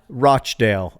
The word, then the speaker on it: Rochdale: Rosianna, how do you say Rochdale? Rochdale, apparently, but Britisher.